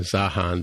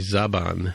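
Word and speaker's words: Zhaban: I had originally pronounced it correctly in the show, but then we started calling it Zahan, but it's actually Zaban is the name of the male character, the male Romulan from Northern Romulan.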